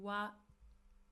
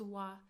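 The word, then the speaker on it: は: So when we use it as a particle we pronounce it as wa.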